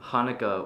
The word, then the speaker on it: Hanukkah: terrible damn i hate when that happens it's pronounced hanukkah with like there's a lot of that in